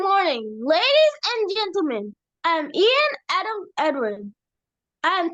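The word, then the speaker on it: Iain: about me is that my name is Ian it is spelled i a i n a few words that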